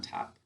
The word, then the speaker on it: two: Twu is how we say that to spell it. But how do we say it when we're speaking? Good. We say to.